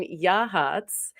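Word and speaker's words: Yachats: So if you are on the Oregon coast and you find yourself on the central coast down in Yahhatz and that's how it's said by the way those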